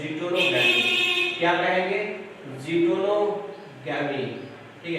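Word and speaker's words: geitonogamy: रहा है, तो इसको हम लोग कहते हैं जीटोनोगैमी। क्या कहेंगे, जीटोनोगैमी, ठीक है। इसको जीटोनोगैमी कहा जाता है, ये स्पेलिंग याद रखिएगा, GEITO जिटोनोगैमी कहा जाता है।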